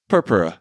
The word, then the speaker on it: purpura: you might have to help me with this pronunciation thrombotic thrombos cytop pic purpura purpura purpura nice you did pretty good thrombotic thrombocytopenic